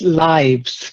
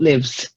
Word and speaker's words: lives: Then in this context, it's lives, not lives.